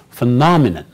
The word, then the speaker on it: phenomenon: and we focus or we stress in our pronunciation the second part which is numb so we say phenomenon right what is the phenomenon it is something